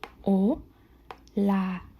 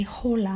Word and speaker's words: hola: O la. Remember this is silent. You don't say hola.